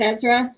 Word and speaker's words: Ezra: wow okay that's how you say it is ezra awesome oh well that's awesome hi jan kealing